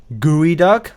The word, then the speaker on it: geoduck: Geoduck is actually pronounced gooey duck. I don't know why but it is okay.